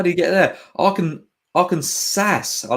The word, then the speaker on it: Arkansas: Well, it's not spelled like that. Definitely Arkansas.